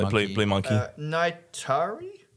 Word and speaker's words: Neytiri: Naitari? Natari? Natara? I don't think so. Is that it? Really? Yeah. How do you say that? Yeah, Neytiri.